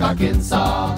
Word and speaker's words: Arkansas: also in little rock arkansas it ends with an s but don't say it boy when mentioning springfield